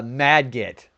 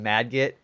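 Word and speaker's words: Margit: Uh Madget, that's how you pronounce it. Madgit.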